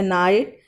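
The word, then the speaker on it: knight: नाइट, इसमें भी के की साउंड साइलेंट है।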